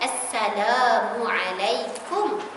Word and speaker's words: assalamualaikum: Jangan assalamualaikum. Bukan kom. Ejaan Melayu kita macam mana? K-O-M ke K-U-M? K-U-M.